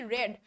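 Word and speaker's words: read: তারপর আই শি রিডস দ্য, শি রেড, রিডের past form হচ্ছে রিড, রিডই থাকে বাট উচ্চারণটা ডিফারেন্ট হয়, রেড।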